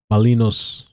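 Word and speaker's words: Malinois: But that's the Belgian Malinos, that's how you say it, named Bach.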